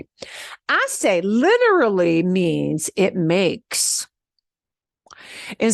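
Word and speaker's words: hace: part here h-a-c-e and remember we don't pronounce the h so it's pronounced I say literally means it makes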